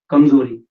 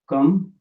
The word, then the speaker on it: कमजोरी: And the word for weakness is kamzori. Okay, so you will say kamzori.